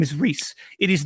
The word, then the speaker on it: Rhys: Yeah, for Rhys, anyone who's asking, my name is pronounced Rhys.